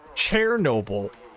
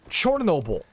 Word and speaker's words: Chernobyl: Chernobyl. No. It's Chernobyl. That's the place's name in its native tongue. We don't say Constantinople anymore, do we? It's Chernobyl.